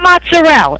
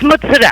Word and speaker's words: mozzarella: It's not mozzarella. It's mozzarella. I heard you. The owner of the station is Italian, and that's how he pronounces it too.